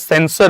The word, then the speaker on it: censure: Okay, though we pronounce it as sensor only but it is not that C E N S O R sensor. It is sensure. C E N S U R E. Though the pronunciation remains censor itself.